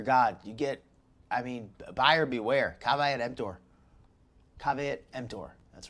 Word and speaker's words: caveat emptor: Caveat emptor. That's right. That's how you say it in Latin.